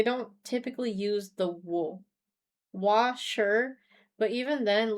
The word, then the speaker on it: は: The wa, as a hiragana, is written as the hiragana for ha, but you would say wa.